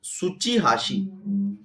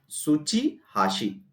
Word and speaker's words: Tsuchihashi: Answer is, it has been classified by very tough name, Tsuchihashi. Tsuchihashi. T is silent. So this lip prints classification has been given by Tsuchihashi.